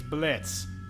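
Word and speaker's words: Blitzø: walls red with him name's Blitz the O is silent now why are you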